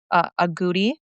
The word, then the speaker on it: agouti: with is the um I don't know if I'm pronouncing the species of mouse audi is that how you say it? Yeah. Audi uh mouse studies was